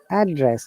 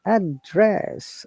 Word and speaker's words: address: the first one is address you can see a double d scatter that means we're stressing on first word address address okay so it becomes known now if you're stressing